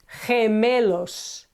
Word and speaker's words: gemelos: with these two vowels, if the letter G is followed either by I, E in Spanish, or E or E in Spanish, it's pronounced h. Okay? H, as in hello.